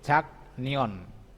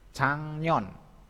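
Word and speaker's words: 작년: Sekarang jaknion. Jaknion. Ini ya, jaknion. Bacanya cangnion.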